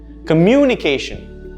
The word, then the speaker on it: communication: Communication or communicate. Notice how mu is where the sound stress is.